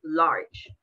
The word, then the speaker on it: large: In English, it's not the same, obviously, because we have, we don't mention the last letter. In este caso, la E no se menciona. So that is why we have one syllable, large.